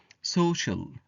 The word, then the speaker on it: social: syllable and say interesting social any c i a is pronounced like sh pollution keep the air